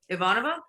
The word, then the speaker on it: Ivanova: if you want to call her ivanovash they can but it's Ivanova if they say it properly Ivanova Maya here we go